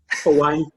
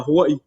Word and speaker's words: Hawaii: called hawaii and it's how do you pronounce it actually hawaii i can't even i can't even do why it's a hawaii you gotta you know be strong with the vowels we're all about the vowels so how old were